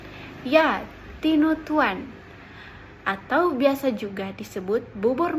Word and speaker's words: tinutuan: tinut Tuan bubur khas manadoa tinutuan Bagaimana cara pengucapannya ya tinutuan atau biasa juga disebut bubur Manado oh Isinya